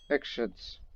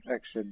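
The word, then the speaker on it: Ikhshid: These are the Buddhist satraps, or Ekshids. Yeah, I figured out the correct pronunciation in the Sogdian language. It's Ekshid. The spelling of I-K-H, you pronounce it like a letter S. No, excuse me, X.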